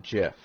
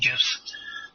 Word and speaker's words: GIF: we always prove is it is it a gif or is it jif i don't know well 20 20 i'm going